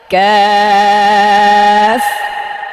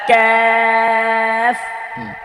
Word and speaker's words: كاف: ক্যাফ। كاف সুন্দর দর্শক, এটা পাতলা হবে এবং এই কাফটা ধরেন